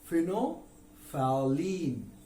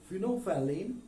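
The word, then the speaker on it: phenolphthalein: Fino, L silent हो गया, TH silent हो गए दोनों, L भी साइलेंट, TH भी साइलेंट, बचे क्या? फिनो, PH फॉर एलीन, फिनोफैलीन। तो क्या हो गया? फिनोफैलीन। फिनोफैलीन इज the pronunciation in British English.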